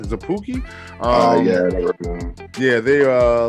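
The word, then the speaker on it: Szapucki: are but jordan yamamoto and left-handed pitcher thomas zappouki see that's how you say his name is a pookie uh yeah yeah they uh looks like they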